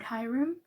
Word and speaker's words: Hyrum: But what made me kind of jumpstart my skincare change was I came across a YouTuber's videos on skincare named Hyrum, and Hyrum rhymes with Skyrim, and Skyrim's my favorite video game, so that's how I would always remember his name.